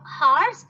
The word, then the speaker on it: hours: Though H is there in the beginning of each word, H is silent.